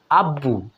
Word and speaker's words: আব্বু: তৃতীয় উদাহরণটাতে খেয়াল করুন আব্বু এখানে আবার ব ফলা উচ্চারিত হয়ে গেল কি না তিনটাতে তিন